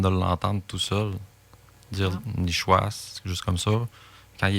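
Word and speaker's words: nishuasht: L'écriture est S-H-U-A-S-H-T pour le 7, là, mais il se prononce nichouas.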